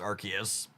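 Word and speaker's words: Arceus: friends around arus here archus I'm going to say arus a lot just cuz that's I've always pronounced the card apparently it's archus I'll make we'll make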